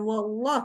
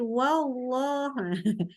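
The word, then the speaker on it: والله: Wallah itu bukan wallah tapi wallah. Jadi ini sama fasta'il ya. Dibuka mulutnya.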